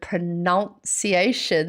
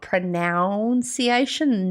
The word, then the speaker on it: pronunciation: pronunciation of the word pronunciation that i should have the none in there not noun it's not pronounciation nonciation joe i wish my